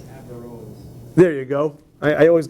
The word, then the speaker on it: Averroes: I think Averroes. I think you put the emphasis on the first syllable, if I remember correctly.